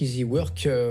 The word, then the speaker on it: iziwork: Easy Work, ça s'écrit I-Z-I et Work, comme travail donc en anglais, qui devient leader digital de l'intérim en France avec une belle levée de fonds.